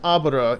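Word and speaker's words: 油: The second character is usually pronounced Abra in its kun form.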